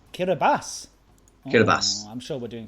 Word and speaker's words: Kiribati: we also have off on in the islands Kiribati.